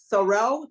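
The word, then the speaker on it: Thoreau: the famous philosopher I don't know if I pronounced it right help me thorough t h o r AAU remember him um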